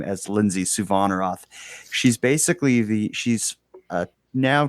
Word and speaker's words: Suvanarath: We would like to discuss your most recent series covering the story of Lindsay Suvanarath. I think I pronounced that correctly, didn't I? Yeah, you got Suvanarath, but yeah.